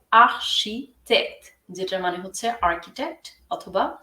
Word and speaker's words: architecte: architecte, architecte এখানে ch এর উচ্চারণ হবে শ, আর টির উচ্চারণ হবে ত দুইবারই। সো এটা হবে architecte, যেটার মানে হচ্ছে আর্কিটেক্ট অথবা স্থপতি।